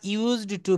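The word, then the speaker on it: used to: বানানটা দেখেন ইউএসই। ওরপরে ডি দিতে হবে। ইউজড উচ্চারণটা হবে ইউজড টু। শেষে একটা ড আসবে।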